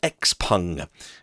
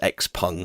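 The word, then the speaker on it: XPeng: chinese eevee maker called x-pung it looks like it's spelled x-peng but i i hear the people from the company uh pronounce it as x-pung so we'll we'll go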